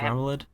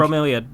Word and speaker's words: Bromeliad: Bromelid? Bromeliad, I think. Bromeliad. Thank you. I can't say words. They talked about like 2 Rainwings that are missing, and one of them was like a student of Bromeliad's that disappeared during Venom training, and then Mangrove